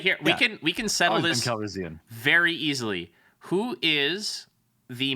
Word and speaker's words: Calrissian: Calrissian is how they say it in the movies.